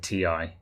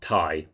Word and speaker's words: Ti: non-philistine i've always said ti good for you chris yeah for those of you who don't know nvidia have said it's pronounced tai but this is kind